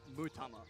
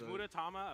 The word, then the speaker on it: Mutama: Also, it's Mutama. I added an Ura syllable that wasn't there when I read it the first time. Mutama is the... Is Muratama a player?